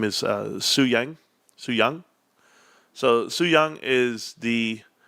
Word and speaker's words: Yang: So Su Young, it's pronounced Yang, or it's written Yang, but it's Young.